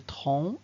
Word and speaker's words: tronc: la maison alors on commence la correction le tronc avec ses d'un arbre un vêtement avec des